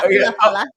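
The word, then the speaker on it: Ula Fala: Yeah, Ulafala. I think I'm just saying it the way that it's spelled.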